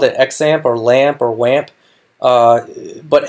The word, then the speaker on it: XAMPP: using is exempt and I think they actually pronounce it shamp which is surprising to me if you watch this introduction I've always called it xampp or lamp or lamp